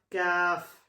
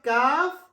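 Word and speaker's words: كاف: And the second point, Kaf is pronounced with a softer sound than Qaf. Understand what I'm saying? Yes, Kaf is pronounced with a softer sound Yeah.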